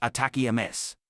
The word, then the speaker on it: ATACMS: enemy forces located on what is atacms atacam pronounced attack Ms is a tactical ballistic